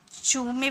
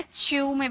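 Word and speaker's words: chew: देखिए इसकी प्रोनाउंसिएशन आप चू में भी निकाल सकते हो या च्यू में भी निकाल सकते हो, दोनों करेक्ट है।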